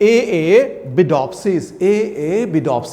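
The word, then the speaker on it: Arabidopsis: और उसी तरह से यहाँ पे हम लोग बोले हैं ARA, ये एरे नहीं है, AA बिडॉप्सिस, है ना।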